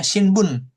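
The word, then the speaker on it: 新聞: Contohnya shinbun, ya kan? Shinbun. Oke, shinbun koran, ya kan? Jadi cara bacanya jadi shin karena dipadankan dengan kanji lain.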